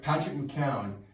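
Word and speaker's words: McKeown: Patrick McEwen. His name is Patrick, and then his last name is spelled M, lowercase c, and then uppercase Keown.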